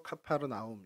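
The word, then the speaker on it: Capernaum: 가버나움에서 일어난 어 이게 원래 히브리어로 그니까 이스라엘 사람들이 쓰는 말로는 원래 코페르 나이라고 해서 마을 그리고 나 이렇게해서 코페르 나인데 헬라어 말로 이제 발음하다 보니까 그래서 카파르나움 이렇게 불렀고 저희 한글 성경에는 가보 나이라고 쓰여져 있는 헬라 음독 이름입니다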